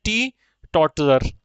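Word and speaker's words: teetotaller: अब T2 टॉलर, चलो ये तो मैंने मजाक में बोल दिया, इसको बोलते हैं टी टॉटलर। क्या बोलते हैं बेटे इसको, टी टॉटलर। तो ध्यान रखना, ये स्पेलिंग में भी पूछा गया है, टी टॉटलर।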